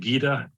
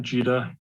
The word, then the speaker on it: Gita: I think Mrs Fair's name is pronounced Gita not Judah being sorry you're being European or whatever but uh anyway I